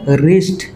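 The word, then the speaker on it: wrist: রাইট রং ডবলিউ আর ও এনজি রং W silent রং তাপ বন্ধকল রিস্ট ডবলিউ আর আই এসটি রিস্ট W silent যেনকার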